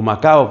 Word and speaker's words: Macau: Estuve en Macau o Macao pronuncian otros, que fue durante un tiempo un territorio